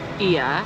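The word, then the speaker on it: Oia: are on a tour and you go to I which is I a looks like o but it's pronounced I then don't buy your magnets there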